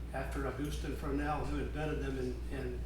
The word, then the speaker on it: Fresnel: F R E S Nel is spelled Frenel after August Frenel who invented them in in France.